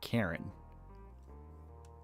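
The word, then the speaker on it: Charon: But the more I research this, I've actually seen this this name pronounced like three different ways. I've seen Sharon, Sharon, and Karen.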